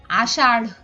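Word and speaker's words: আষাঢ়: একটু খেয়াল রাখতে হবে যখন আমরা ঢয় শূন্য র এর উচ্চারণটা করব তখন আমাদের একটু হ এর মত উচ্চারণ আনতে হবে যেমন মূর্ঢ আষাড় এরকম এরপর আমরা দেখি অনুস্বার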